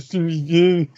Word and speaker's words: Tsushima: That's how you pronounce the title. Ghost of Tsushima.